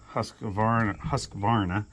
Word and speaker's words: Husqvarna: I had even contacted Husqvarna. I always want to put an extra syllable in there.